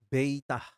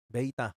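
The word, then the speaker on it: βήτα: Kemudian yang kedua beta pengucapannya beitah beitah huruf b dari kata biru seperti pada kata biru kemudian Gamma ya huruf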